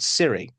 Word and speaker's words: cirri: cape is covered in tiny spike-like projections called cirri. And they don't answer your phone for you. These are cirri spelt with a C-I-R-R-I.